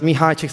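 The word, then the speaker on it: Mihaly Csikszentmihalyi: question and they said my name is pronounced mihai chicks so that's actually the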